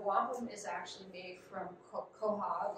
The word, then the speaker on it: quahog: As many of you might know, or probably know, wampum is actually made from quahog, or quag, as it's sometimes pronounced, and whelk shells found in and around coastal New England and the Mid-Atlantic.